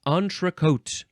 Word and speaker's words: entrecôte: Entrecôte. Entrecôte. Lots of French words in this EN section. It is spelled Entrecôte, and the O you can spell